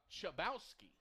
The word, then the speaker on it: Chabowski: It's actually Gabriel Chabowski is how you pronounce his last name.